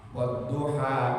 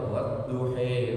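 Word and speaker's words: والضحى: Wad-duha, kita bacanya ha, bukan he, bukan he, bukan a. Wad-duha, a. Tidak boleh dibaca wad-duhi wal-laili idza saji, karena itu bukan kita.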